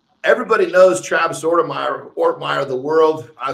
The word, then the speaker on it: Ortmayer: here is uh everybody knows travis zorda meyer ortmire the world i say your name wrong on purpose by the way i got